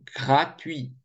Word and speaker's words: gratuit: Gratuit. Вот это U и сразу в II переходит. Поэтому U, она короткая, и получается такой дифтонг.